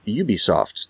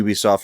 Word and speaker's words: Ubisoft: the Tio and the Ubisoft and that's how you say it Ubisoft is ridiculous and I don't know what you're doing when you say it like that well I think